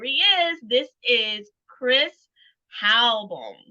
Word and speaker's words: Halbohm: This is Chris Halbohm. Did I say it right, Chris? You got it, Tanya.